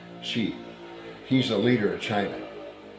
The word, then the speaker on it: Xi: XI in Chinese and the x is pronounced like an S she he's a leader of